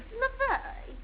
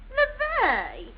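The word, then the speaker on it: Levy: LeVay. How do you spell it? LeVay.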